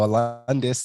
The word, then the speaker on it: Alundas: completely butcher that uh you pronounced my first name perfectly so Alis and then last name's it is you you flipped it